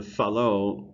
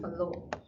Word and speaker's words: Fallot: yeah, and the Fallot, Fallot. If you just type that word into Google, you'll find all you need to know. Fallot, Yeah. Fallot, but pronounced Fallot. It's French, yeah, so it's Fallot.